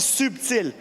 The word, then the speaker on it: subtil: En français, on dit subtil. Il y a un B, on prononce le B subtil.